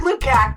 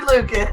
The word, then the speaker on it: Lukac: Lucas it's actually pronounced it looks like lucak but it's actually Lucas thanks for letting me